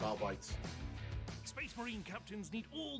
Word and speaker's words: Arbites: There's certainly some bite to their cyber mastiffs, but they'll arrest you pretty quickly, unless you call them the Adeptus Arbites. It's R-Bytes.